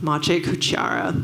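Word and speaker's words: Maciej Kuciara: would want to collaborate with and that is mache cuchiara that's how you pronounce his name and he's a renowned digital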